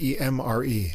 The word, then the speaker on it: Emre: k-a-r-t-a-r-i kartari yeah but the first name is e-m-r-e emre emmer emery i don't know anyway we'll